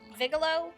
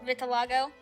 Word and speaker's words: vitiligo: She's kind of tan skin and vigilo, however you pronounce it. Vitiligo? Vitiligo, yes.